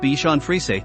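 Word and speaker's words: Bichon Frisé: Bichon frize he Bichon frize pronounced Bichon frize the plural is bichon's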